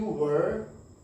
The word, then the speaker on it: were: WHERE को हम लोग वेयर बोलते हैं, यहाँ पे क्या WERE वर, या वर आप बोल सकते हैं, बट राइट वन इज वर, है ना।